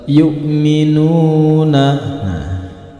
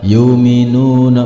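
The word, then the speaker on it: يُؤْمِنُونَ: harokat berikutnya pada lafal yu'minuna di sini ada Hamzah yang berharakat sukun maka cara membacanya dipatahkan pada huruf ya yang berharakat sukun yukminuna bukan yuminuna bukan tetapi yu'minuna dipatahkan pada huruf ya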